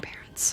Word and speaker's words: parents: Parents has stress on the first syllable, pair, and the second syllable, ence, is reduced to a schwa vowel, so it sounds more like unts, rather than ence.